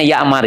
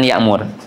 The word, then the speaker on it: Ya'mar: Ya bacanya Ya'mar ya, bukan Ya'mur.